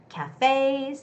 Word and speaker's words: cafes: Cafes, the second syllable stress, and bar owners had to struggle to keep their businesses open.